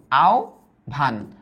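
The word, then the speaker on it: আহ্বান: ধ্বনির কথা আমরা দেখছি, তবে একটু মনে রাখবা এই হয়ের উচ্চারণ হয় ও এর মতো, আর বয়ের উচ্চারণ হয় ভয়ের মতো, আর ওখানে ছিল উ এর মতো।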